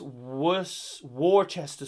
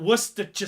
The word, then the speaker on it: Worcestershire: It's pronounced Worcester sauce. It's not easy for me to say, Pete. Worcestershire sauce. It's definitely not Worcestershire sauce.